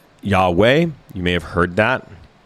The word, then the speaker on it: Yahweh: The Bible scholars, the theoretical pronunciation of that is basically Yahweh.